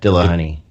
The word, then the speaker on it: Dillahunty: Is that T audible? Yes. Okay. Matt Dilla, honey.